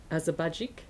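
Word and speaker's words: Azabagić: And Dennis Azabajik, is that how you pronounce his name? Yes.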